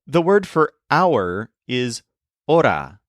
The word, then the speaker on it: hora: word for our is AA spelled h o r a with a silent h for example she was